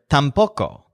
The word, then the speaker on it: tampoco: one is the word tampoco which is essentially a synonym for null this word has the stress on poke because there are nails